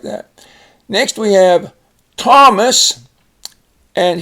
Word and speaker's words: Thomas: Next we have Thomas, and here the H is silent, but we spell it with a TH. Thomas.